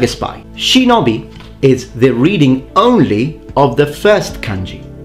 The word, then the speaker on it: shinobi: a Japanese expression that means secrecy and is pronounced shinobi.